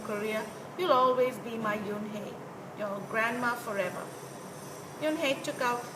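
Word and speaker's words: Unhei: turned to Joey she nodded slowly yes it's pronounced Yoon hey it means Grace Mr Kim's added Yoon hey Joey said slowly and this time perfectly it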